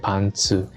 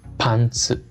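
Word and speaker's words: パンツ: Y como se dan cuenta, se escribe igualito, lo que cambia es la entonación, ¿no?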